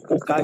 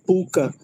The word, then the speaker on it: pucá: Eu eu eu iria até perguntar ao senhor se a pronúncia do pucá estava certa, que eu tava vendo que tava eu tava falando aqui puca, mas não é puca, é pucá, não é isso?